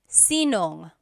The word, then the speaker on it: sinong: If you have sino ang in a question, you might hear sinong.